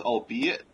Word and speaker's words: albeit: sense yeah yeah okay also it's albeit three syllables long o okay long e